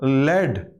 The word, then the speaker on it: lead: और इसी same spelling के साथ LEAD, इसको बोलते हैं लेड।